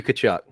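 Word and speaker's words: Tkachuk: give it to you it's it's matthew kachuk it's basically essentially the t is silent was the was the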